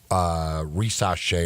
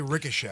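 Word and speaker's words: Risacher: I like saying Risache, so I don't care how it's pronounced. I'm always going to call him Risache. Just don't say Ricochet. Has him falling all the way to 4 to San Antonio.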